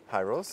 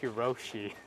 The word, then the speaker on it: Hirose: Oh wait, is that how you say it, Hyros? Hyros, yes. I think I kept calling it Hiroshi.